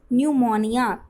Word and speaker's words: pneumonia: Okay, इसमें P silent रहता है तो याद कर लेना, न्यूमोनिया पी साइलेंट रहते हैं।